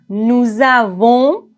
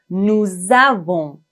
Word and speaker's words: nous avons: Nous avons, vous avez, ils ont, elles ont. Ici, on doit faire la liaison entre le S et la première lettre du verbe qui est une voyelle. Nous avons, vous avez, ils ont, elles ont.